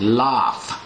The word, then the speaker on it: laugh: ไป เสียง GH นี่ เป็น เสียง f นะ ครับ แลก อง อ เสียง Laugh l a u g h LA หรือ แล หัวเราะ